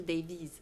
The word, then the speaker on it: Davies: Ça se prononce Davis ou Davis ? Davis. Ah, ça se prononce avec un Z.